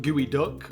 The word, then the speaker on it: geoduck: But either way, folks, this is a Geoduck, like gooey duck, but spelt with a PS for the Psyduck, you know, so Geoduck or Suiduck.